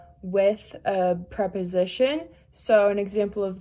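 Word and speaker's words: est: So first the form of etra is and that's s u i s and then for two it's 2 a and that's e s.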